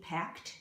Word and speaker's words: packed: the funny joke pack CK cut we see packed it's pronounced packed as if it were a teen